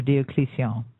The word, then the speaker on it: Diocletian: This is Diocletian, or Diocletian, as it's more correctly pronounced.